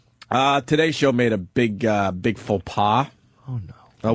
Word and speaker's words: faux pas: Today's show made a big faux pas. Oh no. What does Rich Voss call him? A pofas. Pofa, right? Jesus. Wait, did I just say pofa too? No, you said pofas. Oh, You said it right.